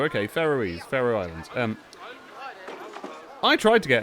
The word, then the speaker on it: Faroe: Pronounced like an Egyptian ruler. Okay, Faroe Islands.